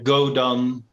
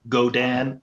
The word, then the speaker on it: Godan: uh otherwise it's uh go don go down dot l go dan the americans say yes sorry yes quick